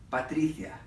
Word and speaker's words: Patricia: I basically got stuck hanging out with Alberto, David, and of course the little sister, Patricia, which rhymes with Galicia.